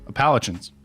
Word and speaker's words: Appalachians: Appalachians.